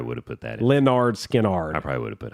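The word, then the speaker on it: Lynyrd Skynyrd: Leonard Skinnard. I probably would have put that. Pronounced Leonard Skinnard.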